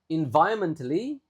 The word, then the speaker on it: environmentally: If these elements are combined effectively, cities will trive environmentally and socially. Ya, ini kata ini kita sudah sempat bahas di pelajaran sebelumnya kan memang lumayan susah. Environmentally, ingat ron-nya enggak begitu dibaca kan?